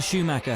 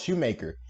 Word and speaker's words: Schumacher: Michael Schumacher had struggled to... Schumacher. Jesus Christ, Chaz. 5 seconds in, I'm already mispronouncing the name. Schumacher. I thought it was Shoemaker.